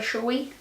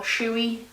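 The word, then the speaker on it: Shoei: the colors it is another shy or shouey however you pronounce it I don't know I say shoy so it is another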